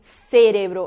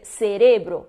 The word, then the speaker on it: cerebro: até para pronúncia né não vou dizer cérebro eu vou dizer cerebro porque não tenho assento ali então se eu sei